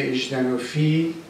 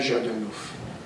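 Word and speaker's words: Жданов: اینکه مکتب کمونیسم روسی اژدنوفی که این تلفظ درستش هم اژدنوفه نه ژادانوف ستالین غلطه استالین درسته شما اژدنوف رو با ژ می نویسید و اژدنوف بخونید نه ژادانوف این مکتب کمونیسم روسی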